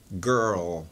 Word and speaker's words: girl: mas a pronúncia é girl girl então uma ajuda aí para você tá atenta aí comigo Girl GR aí depois você pega aquele r com a língua no céu da boca né r r faz